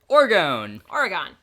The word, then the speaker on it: Orgon: Orgon.